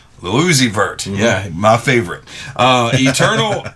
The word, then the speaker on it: Lil Uzi Vert: Little Uzi Vert. Lil Uzi Vert.